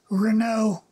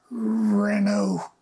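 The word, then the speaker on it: Reneau: And I think his name, because of the pronunciation, was originally R-E-N-E-A-U, Renault. Mm-hmm. And that's how they pronounced their name, mm-hmm, is Renault. Mm-hmm. And it became anglicized to Reno or, mm-hmm, Reno.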